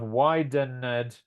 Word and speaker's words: widened: Yeah, so it's 2 syllables, not 3 syllables, right?